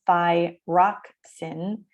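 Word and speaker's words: thyroxine: two hormones thyroxin again this is the phonetic pronunciation thi rock sin and one of my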